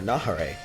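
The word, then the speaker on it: Neva: Shin but really his name is Nahar or Nahar is how you pronounce his name so very interesting that he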